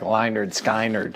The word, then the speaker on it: Lynyrd Skynyrd: it cuz I think it's spelled like ly nerd sky nerd yeah and named after